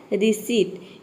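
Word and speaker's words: receipt: बोलते ये होता है रिसीप्ट इसमें भी पी लेटर क्या है साइलेंट है क्योंकि p के बाद t आया है अब देखिए यहां पे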